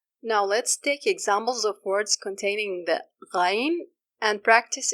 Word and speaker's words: غ: The sound flows due to the weak dependency on the articulation place. If the sound is too short and cuts immediately, then you are probably sticking the root of the tongue to the soft palate. So make sure to approach it and leave a gap for the sound to flow. The sound is directed to the roof of the mouth.